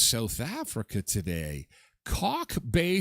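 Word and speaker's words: Kalk Bay: Cock Bay, South Africa. Brass Bell. The Brass Bell surf. Okay, before you get any ideas, this is spelled Kalk.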